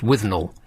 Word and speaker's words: Withnail: Withnail and I. Pronounced Withnell.